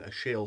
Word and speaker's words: Achille: They start off calling him Achille, and Achille comes from Achilles in a French pronunciation, and they say that right from the first.